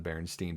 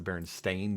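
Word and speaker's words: Berenstain: Well, the thing is that everyone remembers them being pronounced as the Baronstein Bears, but it's actually pronounced the Baron Stain Bears. Oh, but nobody real everyone has it wrong for some reason.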